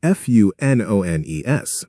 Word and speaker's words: Funones: Our guild is spelled Funones, but it is pronounced Fun Ones.